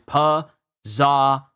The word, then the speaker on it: Pizarro: The correct pronunciation is Pizarro.